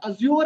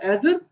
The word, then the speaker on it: Azure: The right pronunciation is Azure. This is not Azure and Azure.